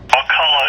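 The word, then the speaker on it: Wakulla: call them different, but am I pronouncing Wakula? Is that the correct pronunciation? Over? Wakala is correct.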